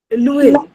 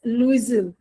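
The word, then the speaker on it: Loisel: Lewell. It's actually, हम लोग पता क्या है? We are pronouncing it as Louisville.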